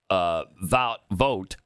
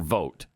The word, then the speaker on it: Vought: We also have OMB director Russ Vought. I always hear it pronounced either way, Vought or Vote. I've always thought vote. Vote? I don't know. Yeah, I think it's vote too.